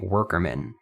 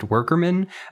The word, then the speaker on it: WKRMN: goes by the name worker men and i believe it is indeed pronounced workerman even though there's not an extra r in before that k but uh he is